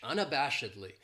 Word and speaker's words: unabashedly: This adverb has 5 syllables, and the stress is on that third syllable, that bash, unabashedly. That second syllable has that schwa, that sound, unabashedly. And what it means is